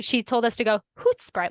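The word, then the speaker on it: Hoedspruit: so it's actually pronounced hoot Sprite like they she told us to go hoot Sprite like like hoot in the beginning almost okay but I feel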